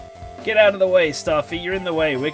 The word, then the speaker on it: Starfy: Like, when you write Staffy out in katakana, it will be Sutafi, which is definitely meant to be pronounced Starfy. Starfy. But to get that across in English, you're going to have to put the R in it.